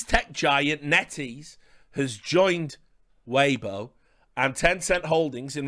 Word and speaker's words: Weibo: from now on because i just call it weebo and many people have said richard that's really offensive uh you're conflating japanese culture and chinese culture with your stupid mispronunciations but i've always just called it weebo but it is weibo i guess and 10 in pulling